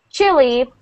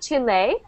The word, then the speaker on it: Chile: important uh for you to know the difference chili you know this is a this is a country chili chili chili yes we pronounce uh although although it has the e